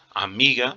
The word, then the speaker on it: amiga: Amiga, por exemplo, o mi é que eu pronuncio com mais força, então por isso você fala corretamente mesmo.